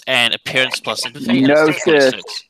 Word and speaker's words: gnosis: It says it's 1 genosis and appearance plus empathy. Gnosis. It's pronounced gnosis.